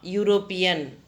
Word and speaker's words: European: You pronounce ya, European. So, we use A.